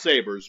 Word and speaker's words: Sabre: I know it's pronounced Sabers, but I like to call it Sabre. Because it's fancy.